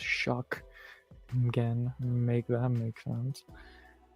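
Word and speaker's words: Shough: There was no K in his name, but it's pronounced Shuck again.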